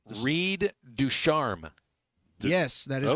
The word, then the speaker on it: Ducharme: Reed Ducharme.